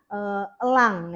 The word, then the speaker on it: elang: Yang betul adalah elang ya. Tapi ada juga nama burung lain yang mungkin pelafalannya itu menggunakan pelafalan bahasa Dayak seperti enggang ya. Enggang, e-nya juga di depan. Nah, enggang itu bukan enggang pelafalannya tapi enggang ya. Karena menggunakan pelafalan dalam bahasa Dayak. Kalau elang ya elang saja pelafalan dalam menggunakan bahasa Indonesia.